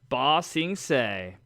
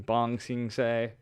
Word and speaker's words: Ba Sing Se: Earth Kingdom, Ba Sing Se. They got this for me because I kept saying Bong Sing Se. So now he knows how to say it.